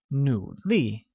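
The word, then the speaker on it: 努力: sentence hard translates as nu li which is pronounced with the falling rising tone on u and a falling tone on i like nu li great good at translates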